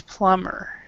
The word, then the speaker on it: plumber: pronunciation on this does you do not pronounce the b on this so it's plumber PL plumber a porter do you